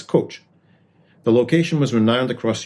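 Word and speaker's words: Kocs: town in Northwest Hungary K CS pronounced as coach the location was rowned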